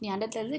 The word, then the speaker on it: Neanderthals: और basically नियांडरथल्स नहीं होता है, नियांडरथेल्स होते हैं बिकॉज ये आपका जो टी एच है that is pronounced T only.